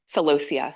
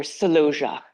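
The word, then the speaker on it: celosia: are amazing and then sosia how many people or saloia depends on how you how you how you say it um two main variety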